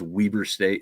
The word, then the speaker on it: Weber: It looks like Weber, but it is Weber State if you ask them. That is how they pronounce it. Almost like it has two E's in there.